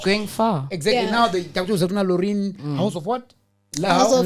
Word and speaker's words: Loreen: So I used to, and it's Lorraine. It's spelled LOREEN. Yes.